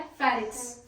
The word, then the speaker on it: pharynx: फेरिक्स। Pharynx. फेरिक्स। Pharynx.